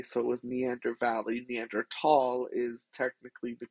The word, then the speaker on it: Neanderthal: german means valley so it was neander valley neanderthal is technically the correct way to pronounce the neanderthal word even though it is